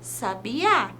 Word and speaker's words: sabiá: uma palavra por exemplo a palavra sabiá percebam que o a é mais forte na palavra Sabiá quando que queremos dizer